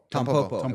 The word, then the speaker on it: Tampopo: Tampopo.